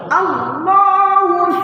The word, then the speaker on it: الله: জিনিস খেয়াল রাখবেন যে আল্লাহ বলতে গেলে আল্লাহ শব্দটা সবসময় মোটা হয় আল্লাহ কেন আল্লাহ শব্দের লামের ডানে জবর অথবা পেশ থাকলে তাহলে এই আল্লাহ শব্দ ল বলে উচ্চারণ হয় আর যদি আগে জের হয় জের যুক্ত অক্ষর আসে তাহলে এখানে হবে লা যেমন লিল্লাহ لله বিল্লাহ